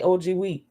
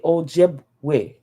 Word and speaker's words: Ojibwe: Somebody might say OGW, but they might say Ojibwe because they're going to try to pronounce every syllable.